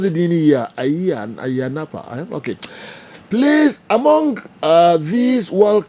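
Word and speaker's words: Ayia Napa: Tutu, Udiwe Efri, Tutu, now at a year, is it Ayanapa? Cyprus. The city of enjoyment. Good morning. Okay, General. Okay, what's Cyprus, eh? Minister, pronounce it in here. Ayanapa.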